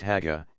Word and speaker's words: Hajja: The feminine Hajja, in Egypt pronounced Haga, is similarly used.